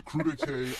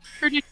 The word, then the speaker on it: crudité: traditionally find in a crudité appetizer?